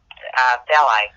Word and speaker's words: Belial: And it's Lucifer, Leviathan, Satan, and Belial, if that's pronounced properly, B-E-L-I-A-L, Belial.